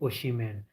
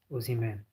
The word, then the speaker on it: Osimhen: Some people say Oshiman. They put the H after the S, but no, it is like this. Osimhen.